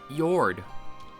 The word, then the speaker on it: Yord: War yeah that's true yord your name rhymes with sword Ethel's an open-hearted person